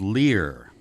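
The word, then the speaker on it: Lir: Let's start with the myth of the children of Lear. Lear is spelled here L-I-R. This is not the bard's Lear, by the way, L-E-A-R.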